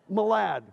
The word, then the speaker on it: Malad: Is that Do you pronounce it Malad? Malad.